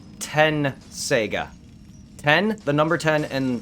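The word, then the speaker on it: Tenseiga: tet t-e-t saiga so shomero's blade is 10 sega 10 is the number and sega as in you know sega genesis yeah so 10 sega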